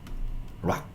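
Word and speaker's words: rock: 락 CK로 끝나는 단어가 좀 있어요. 뭐 하다가 CK CK 이렇게 끝나는 단어가 있는데 이때 그냥 요거 다 키받침이다라고 생각하시면 돼요.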